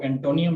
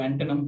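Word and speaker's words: antonym: तो इसको एंटोनियम नहीं पढ़ा जाता, इसको एंटोनम पढ़ा जाता है।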